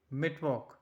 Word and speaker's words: Mittwoch: Wednesday, that means Mittwoch. Wednesday, that means Mittwoch. Mitt, M-I-T-T, Woch, W-O-C-H, that sounds like woke. So it sounds like Mittwoch.